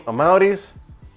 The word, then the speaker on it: Amauris: And yeah, my name is Amauris. That's how you say my name, Amauris.